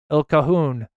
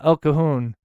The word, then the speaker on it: El Cajon: Oh, I'm so glad I'm not the only one that couldn't mispronounce that. El Cajon. I learned my lesson now. El Cajon.